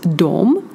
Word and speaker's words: de: at 2 words, because we have personal pronoun dom, which is translated as they, and objects pronoun, which is dom, and it is pronounced the same. So if I would say the sentence they see them, it would be dom ser dom. It is said the same, but it will be written different way.